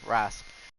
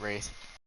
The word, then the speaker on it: Wraith: Alright, Wraith, or Wrath. However you want to pronounce it, I pronounce it Wraith.